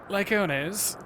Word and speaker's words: Lycones: Okay, so it's been an L this whole time, but I've been pronouncing it with an I. Well. Lycones would threaten other species and upset the natural order.